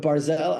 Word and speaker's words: Barelle: I totally get that but Barelle I knew that people were going to pronounce it correctly with certainty because there is an NHL hockey player and his last name is Matt barzel and the announcers have no issue pronouncing his name bro Kem you chose